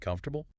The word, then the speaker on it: comfortable: This word is a famous trap for English learners. When you look at the spelling, it has four distinct visual parts. Comfortable. It makes logical sense to pronounce every single vowel.